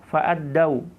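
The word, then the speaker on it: فأدّوا: qaumihim fa amma as-sadiquna fa'addau ma sami'u. Fa'addau bukan fa'addu, ya, fa'addau cara membacanya, ya.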